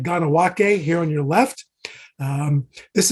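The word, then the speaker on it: Kahnawake: dating from the 17th century that is called Ganawake, spelled like Kanawake, but pronounced Ganawake.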